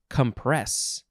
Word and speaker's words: compress: It is compress. We are emphasizing the second syllable.